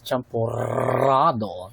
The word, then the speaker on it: Champorado: So, double R siya. So, dapat yung pronunciation pala niya is champurado.